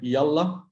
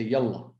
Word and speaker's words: yalla: So they learn yalla, which we use, which is in common.